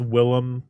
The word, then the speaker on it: Willem: Technically, it is Willem. That's how people are supposed to pronounce it, but his actual name is William, but he changed it to be different.